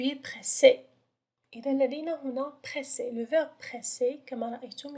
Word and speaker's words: pressé: إذا كما رأينا سابقا في القاعدة ف S entre deux voyelles تنطق Z. يعني إذا كانت لدينا S واحدة فقط فسننطقها pressé. لكن دائما نضع deux S entre deux voyelles لكي ننطق S. لكي يكون لدينا le son S.